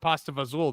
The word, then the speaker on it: pasta fagioli: and they're like, "What's pasta fagioli?" Fagioli. We're like, That's not how you And say they're it. like, no, it's pronounced. I remember I said it's pronounced pasta vazul.